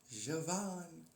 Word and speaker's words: Javan: It's J and then Van. Javan. That's how it's pronounced.